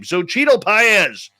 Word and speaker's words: Xochitl Paez: I finally learned how to pronounce his name. Xochitl Paez.